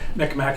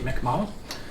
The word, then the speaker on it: Mi'kmaq: on the phone, and she did tell me that I was mispronouncing Micmac. It's actually Mi'kmaq. Yes, but because it's spelled with an AC at the end or sometimes a K, you think you pronounce it, but that's the correct pronunciation.